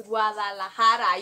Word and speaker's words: Guadalajara: Guadalajara. It's Guadalajara. You gotta say it like a Mexican.